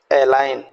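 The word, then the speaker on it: align: अब देखिएगा कॉलोन, जी को हम साइलेंट छोड़ दें, colon. Genome, right. Design, resign, foreigner, एलाइन, एसाइन।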